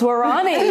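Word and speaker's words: Waorani: Well, I loved how you pronounce Warani.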